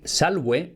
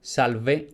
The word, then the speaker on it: salve: La más genérica y neutral es decir salwe si estamos saludando a una persona o salwete si son dos o más. En pronunciación eclesiástica, salve o salvete.